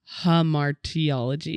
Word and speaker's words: hamartiology: it hamartiology harar harar there's only one R hamartiology yeah I could tell